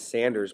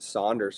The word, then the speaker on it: Sanders: I ask the owner, is it Sanders or Saunders? He's like, well, the family's name is Sanders, but so many people have pronounced it Saunders for so long that it could be either.